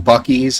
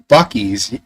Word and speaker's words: Buc-ee's: Buc-ee's. Yeah, John, but it's Bucees, I think. And it should be Bussies, I think, if you were to pronounce it like that.